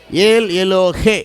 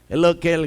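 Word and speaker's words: ஏல் எலோஹே: அந்த பேரை சொல்றான் அல்லேலூயா ஏல் எலோகே எலோகே இல்ல அப்படி பாடக்கூடாது இங்கிலீஷ்ல ஏல் எலோகேன்னு இருக்குது தமிழ்ல மட்டும் படிச்சிட்டு தமிழ்ல எழுதி பாடக்கூடாது இங்கிலீஷ்ல எப்படி இருக்கு உச்சரிப்பு கரெக்டா சொல்லணும் ஆமென் இன்னைக்கு ஸ்டைல் ஆயிப்போச்சு ஏல் எல்லோகே அப்படி எல்லோகேல் கிடையாது எல்லோகே ஏல் எல்லோகே இஸ்ரேல் பார்த்தீங்கன்னா அவன் என்ன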